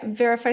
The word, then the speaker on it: Veriphy: Yeah, verify skincare, but it's spelled veri phy skincare.